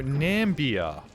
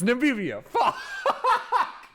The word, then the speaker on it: Namibia: Oh, I'm pronouncing this really wrong, aren't I? Namibia. It's Namibia.